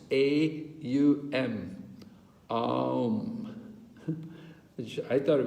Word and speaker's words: om: so pranayama it says chanting the three syllables combined as om three syllables a u m um which i thought